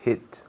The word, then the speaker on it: hit: Y la H inglesa, ¿cómo la pronunciamos? Pues ha. Ha. Soplando un poco así como si estuvieras limpiando un espejo.